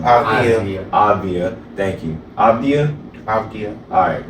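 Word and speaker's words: Avdija: Avdia, thank you. Avdia? Avdia. Alright, bet. Avdia.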